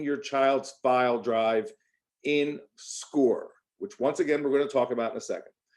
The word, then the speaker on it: SCOIR: Okay, we are using this new program called SCORE, and it's spelled SCOIR.